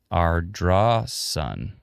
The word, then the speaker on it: Ardrossan: Ardrossan. How come it's spelled S-A-N, but it's pronounced S-O-N? Why? Why do they do this to me? Ardrossan.